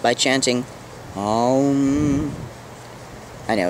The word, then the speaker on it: Om: In Sanskrit, this hum is pronounced by chanting Om. I know, it's hilarious, but it's true. Making the im long and feeling the resonance in the head. Aum. Aum.